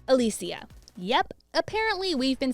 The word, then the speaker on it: Alicia: It's not Alicia or Alicia, it's Alicia.